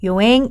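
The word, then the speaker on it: 四円: 경우에만 주의 하시면 되요 사행 어떻게 읽으면 될까요 여 앤 이어 n 그렇죠 용 행한 되요 요행이 라고 발음 하지요 저기요 라고 바로 많은거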